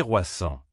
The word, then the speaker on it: croissant: Et n'oublie pas, prononcer correctement croissant est important. Répète après moi. C'est croissant.